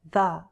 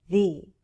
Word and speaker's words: the: We say "thee" before a vowel sound.